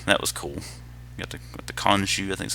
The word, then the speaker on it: Khonshu: Got the Khonshu, I think is how you say that, Khonshu build.